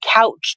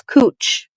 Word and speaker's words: Couch: Portland, and look up any video on YouTube and look up Portland Couch Street. See how they pronounce it. It's Cooch.